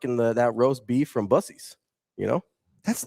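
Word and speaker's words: Buc-ee's: No, it's Bucce's. Kobe, you don't think so? Brandon knows. See? No, I know. He's dead serious. He used caps like Kobe. Yeah. Brandon knows it's Bucce's.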